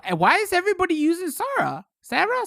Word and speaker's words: Sarah: is everybody using sora sarah sarah i pronounce this like air arrow round one ready go